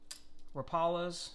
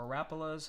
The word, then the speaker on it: Rapala: finally into the lures rapalas or rapulas however you want to pronounce it got some rapala